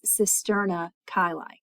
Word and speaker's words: cisterna chyli: I apologize for that. I don't want to re-record those, so the pronunciation is cisterna chyli.